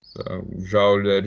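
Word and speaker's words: joule: = Newton x met ja escocês escreve-se J mas a pronúncia usual é ja tá dúvida pessoal vamos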